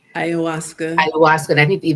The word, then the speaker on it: Ayahuasca: person had taken Ikawasha, am I saying it correctly? Ayahuasca.